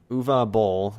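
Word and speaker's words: Uwe Boll: to wikipedia of the director which is um uva bowl that's how you pronounce it that he actually tried to do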